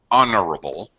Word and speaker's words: honorable: not only more honorable the silent h honorable honorable very good but more